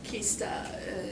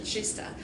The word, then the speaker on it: Kista: campus called shista campus Kista in English you may pronounce as Kista but in Swedish that's chista shista campus is like